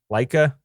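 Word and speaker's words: Laika: Box Trolls also the guys who did Coraline Leica that's how you say it four ParaNorman also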